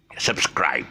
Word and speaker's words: subscribe: In the meantime, look down there and you see my the word subscribe. Stress syllable is scribe.